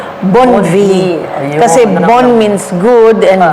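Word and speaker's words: Bonnevie: kasi sa Pilipinas It's Bon V pero and real pronunciation because it's a French name Bon V kasi Bon means good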